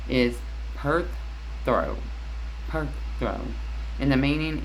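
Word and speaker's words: Perthro: So the pronunciation is perth throw.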